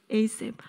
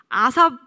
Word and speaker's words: ASAP: 갓생 살기랑 이번에 에이셉 아삽 그 시편 쓴 사람 중에 아삽 있잖아요. 그건 일단 에이셉이라고 읽어 주세요. 네.